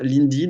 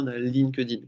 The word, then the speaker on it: LinkedIn: que je raconte ça pourquoi est-ce que je vous parle d'un lindine et pas lin kedine qu'on entend tout le temps parce qu'en fait lin kedine ça se prononce lindin c'est important mine de